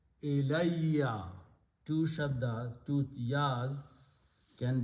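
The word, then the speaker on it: إِلَيَّ: When you write them together and pronounce them together, it is ilayya.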